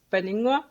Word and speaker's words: Paninnguaq: Yeah, so the P is like silent. It's Paningwa, and it means the sweet daughter in Greenlandic.